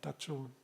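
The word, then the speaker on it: taco: It's pronounced more like church, not like the sea, Tacho.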